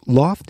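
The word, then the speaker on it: L0pht: their other stuff so Loft heavy Industries that's spelled l0 PHT was the Boston equivalent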